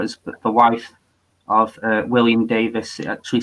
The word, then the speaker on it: Device: I don't want to be pedantic or anything, but it's device is technically wrong. It's no, not at all. Not at all. It's the surname Davis spelled phonetically, you know.